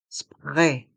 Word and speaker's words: spray: cotons les cotons tiges le mot spray est un mot anglais mais on le prononce à la française le r se prononce comme un r français spray pr le coton dans